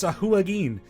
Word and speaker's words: Sahuagin: I made sure to look up the pronunciation of the fish people. Apparently, it's Sahuagin.